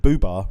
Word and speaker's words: Boobah: just go fully with BBA rhymes with tuba yeah and I think